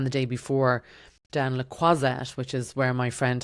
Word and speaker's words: Croisette: day before down Le Croisette, which is where my friend has a big Botox practice. And then it was just so funny. I just was like, oh, noisette rhymes with croisette.